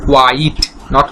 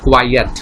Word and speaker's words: quite: আর এই কোয়াইট, এটার উচ্চারণ হচ্ছে কোয়াইট, নট কোয়াইয়েট।